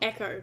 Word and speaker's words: Echo: sea B um have Eco on it I don't see the sky yeah well Echo not eco Echo yeah but that'd be